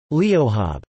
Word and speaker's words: leo: pronounced as acube and leo pronounced as leohab.